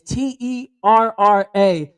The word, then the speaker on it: Terrah: It's Terra, and I know she's beautiful, wonderful. Terrah. They're like Terrah. T-A-H. Look at But you that. know what? You can spell it any way you like. I'm gonna spell it like this: Beautiful, because I can see